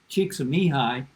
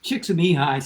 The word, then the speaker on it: Csikszentmihalyi: In fact, Csikszentmihalyi, I'm not flaunting the fact that I can pronounce his name, by the way.